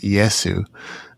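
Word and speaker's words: イエス: I looked into this a little bit as well, nowhere near as much as you, but in Japan it's pronounced Iesu.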